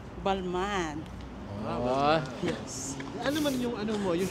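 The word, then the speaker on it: Balmain: Ano pronunciation ng bag mo, please? Balman.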